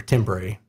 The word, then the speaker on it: timbre: important is because the timbre that you hear, I still can't say it right. It bothers me that it's spelled T-I-M-B-R-E. Definitely looks like timbre or timbre. Spanish Joe knows what I'm talking about.